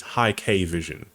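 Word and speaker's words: Hikvision: is pretty good and they were pronouncing it as high K vision makes more sense but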